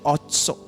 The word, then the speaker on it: Otsar: Spelling है OTSAR, लेकिन pronunciation है ऑत्सो।